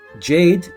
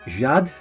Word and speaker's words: Jade: so in France um jade which in French would be pronounced Jad Jad uh Jade Gabriel